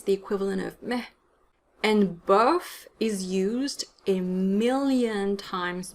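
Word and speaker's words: bof: same sound as then bird so the right pronunciation is buff buff as in off seperately or unfairly are two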